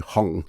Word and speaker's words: Hang: I don't think it's I think the Hang as in like hanging how you as opposed to Hong which is how you pronounce the Hang percussion instrument uh yes well uh